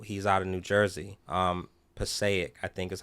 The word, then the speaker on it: Passaic: Passaic, I think is how you pronounce it.